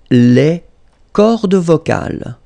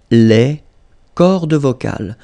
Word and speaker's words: les cordes vocales: at the end, S, and then S here as well, but you don't pronounce them, okay?